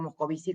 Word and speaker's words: Moscovici: en representaciones sociales, y se escribe Moscovici, pero el tipo se desarrolló en Francia, así que le decimos Moscovici como como se pregunta, como se dice habitualmente, y justamente vamos a